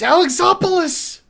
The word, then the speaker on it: Alexopoulos: It's Alexopoulos! At least pronounce it right, stupid!